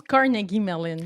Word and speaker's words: Carnegie Mellon: Oui, ça se prononce Carnegie Mellon, mais moi aussi, je l'ai appris un peu sur le tard.